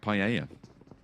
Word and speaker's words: paella: pronunciation nowadays on it like paella uh paella paella why are you saying paella that's how that's how you say in spanish two elves yeah paella yeah how